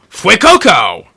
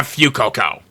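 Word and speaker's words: Fuecoco: do something you're going to regret next up F Coco that's how it's pronounced it's not F Coco thanks anime thanks Spanish anyway F Coco this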